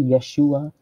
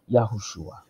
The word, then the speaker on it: Yahushua: some people say yeshua some people say in Yeshua or no there's a couple of different pronunciations I guess it depends on how you how it was talked to you or how you interpret it over to her but I say yahushua okay so we're gonna